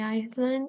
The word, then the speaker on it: island: very good Island Maria the S is silent let's continue with the